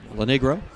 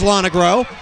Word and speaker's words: Lonegro: I mispronounced his name when he went in motion, but we got it right when he made the catch.